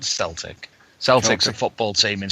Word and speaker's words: Celtic: And it's Celtic, Michael, not Celtic. Celtic's a football team in Scotland. Okay, my bad. Us dumb Americans. Celtic. Okay. Looks like it's a C, but it sounds like a K.